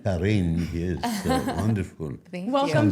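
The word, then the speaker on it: Jarrín: I like the way you pronounce my last name. Harin. Harin.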